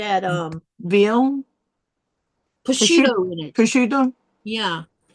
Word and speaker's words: prosciutto: You know how I used to say that? Mosquito. All I know is how you say pattern. And then somebody says, "What are you saying?" I said, "I bought some mosquito." Do you mean prosciutto?